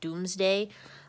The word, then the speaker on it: Domesday: So I know it says Domesday Book on the slide, and that's how they spell it, but they actually say it Doomsday.